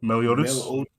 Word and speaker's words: Meliodas: I was gonna ask though, how do you pronounce his name again? Meliodas.